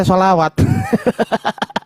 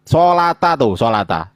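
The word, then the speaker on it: صلاة: Sholawat ini dia bacanya sholawat. Sejak kapan ini dibaca sholawat? Hah? Ini bacanya sholata kan? Sholata.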